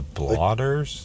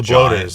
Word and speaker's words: bloaters: The blotters? Clickers? No, the big... Oh, the bloaters.